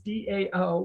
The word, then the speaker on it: DAO: daos are decentralized autonomous organizations otherwise known as dao which is pronounced dao and a decentralized autonomous organization are